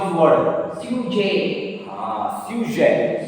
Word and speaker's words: sujet: Sujet. Sujet. Because already I told this letter G. Individually you pronounce G, but in a word it will be pronounced J.